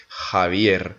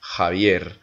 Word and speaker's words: Xavier: X par exemple, mais on va le prononcer avec un J, Javier, Javier.